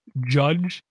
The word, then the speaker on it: JYDGE: I'm guessing it's pronounced Judge. JYDGE. Judge by 10 tons, 17 reviews, T for teen, $9.99 to buy.